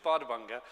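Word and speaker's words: Bárðarbunga: Um, and I can't help showing a picture of my favorite volcano, which did you pronounce it? You didn't, did you? You see, it's it's Bardabanga.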